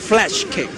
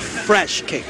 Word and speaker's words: flash kick: right I spell right it's flash kick is not fresh cake okay my pronunciation is